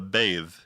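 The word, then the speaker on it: Badb: a crow or the bathe which I'm probably pronouncing wrong it's spelled b a DB and the YouTube video said it was more like a V sound there are some differences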